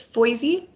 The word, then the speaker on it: Foisey: It's Foisey, like Foisey? Boise, but with an F. Okay, so the S has a Z sound.